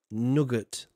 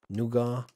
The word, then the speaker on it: nougat: How do you say in America again? Nugget. Nugget? Is that it? Nougat. We say nougat. It's a silent tea. Like sipping the silent tea.